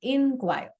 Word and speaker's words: inquire: और जो इंक्वायर है जिसमें हम आई लगाते हैं, उसका प्रोनाउंसिएशन इज इन, इंक्वायर।